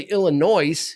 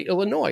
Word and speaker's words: Illinois: n o i s kind of like you don't say Illinois you say Illinois it's silent so land Ro so there